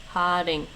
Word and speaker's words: haring: This is haring. Haring. And actually, while I'm there, just to get this pronunciation right, I used to say Den Haag, but it's not, I don't think.